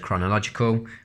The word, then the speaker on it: chronological: in chronological order chronological just remember silent H on the word chronological that word that sort